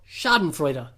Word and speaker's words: Schadenfreude: Schadenfreude. Pronounced it right.